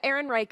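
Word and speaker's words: Ehrenreich: uh German right yeah Aaron Reich is the American pronunciation I'm not even going to attempt the German pronunciation because I'm very bad at that okay Alden Aaron Reich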